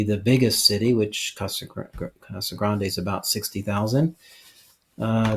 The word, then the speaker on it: Casa Grande: that our folks know some people pronounce it cost a grand or as he said I think it's probably more correct Casa Grande there's an e on the end of that and if if I